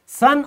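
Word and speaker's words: son: फिर है एन तो एस ओ एन इसकी प्रनंसीएशन कैसी रहेगी से एस यू एन सूरज वाली ही रहेगी सन और ये सन से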